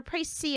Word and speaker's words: précis: So the court has now heard a précis of the case. It's so weird. The S is just silent.